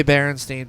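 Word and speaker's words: Berenstain: I have remember that I have a baron stain book and it's spelled that way I read it not that long to my son it was like oh yeah I checked all my kids and all my kids has says stain but I'm telling you like if you would have asked me to spell it before I had kids I would have spelled it e n not a i n and it's Frankenstein is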